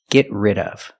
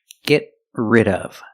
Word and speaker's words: get rid of: Pronunciation, get rid of. We see the T in get is a stop T. Get rid of. Link the sounds. Link the stop T to the R.